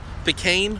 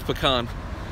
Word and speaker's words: pecan: it where you're from pean I heard pean before that's wrong it's pecan look there it is the